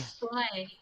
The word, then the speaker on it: Soleil: Is that how you're pronouncing your character's name? Soleil? Soleil.